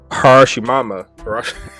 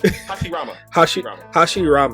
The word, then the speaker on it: Hashirama: You had Madara and you had Harashimama. I can't pronounce his name. It's crazy. Hashirama? Oh, yo, now you got me mixed up. Hashirama.